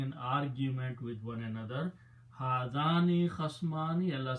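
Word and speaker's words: هذان: When you put a noon in the beginning, in the end, and pronounce with a kasra, hadani, it becomes group of two.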